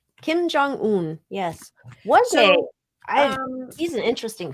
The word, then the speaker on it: Kim Jong-un: see why how do we say his name Kim Jong-un Kim Jong-un yes um he's an interesting Feller he is